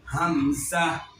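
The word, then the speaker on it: همزة: এই হরফটির নামে শুদ্ধ উচ্চারণ করতে হলে কণ্ঠনালীর তার শুরু স্থান থেকে এই হরফটি উচ্চারণ হবে। আমি এখন এই হরফটিকে তার উচ্চারণের স্থান থেকে উচ্চারণ করে শোনাবো। আপনারা শুধু শুনবেন, বুঝবেন, দেখবেন, কেউ বলবেন না। হামসা, হামসা, হামসা।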